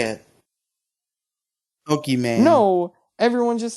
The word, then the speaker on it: Pokimane: It's supposed to be Poke Imane? Because her name's Imane? Yeah, that's how they say it. Pokimane.